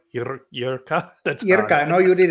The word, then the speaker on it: Jirka: Jirka. That's Jirka. No, you did it great. Like Jirka and Honza, you're just exceeding my expectations tonight.